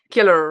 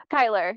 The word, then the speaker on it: Kielyr: you mention is that the right way to pronounce it your name I always feel like killer right yeah Kyler yeah Kyler oh my God I